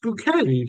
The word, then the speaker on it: Bouquet: like, she tries to be all, so when they're like, oh, Mrs. Bucket, it's like, oh, it's pronounced Bouquet.